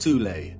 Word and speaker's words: Thule: secret society within germany called the soul society sometimes alternatively pronounced thule that had sub-factions within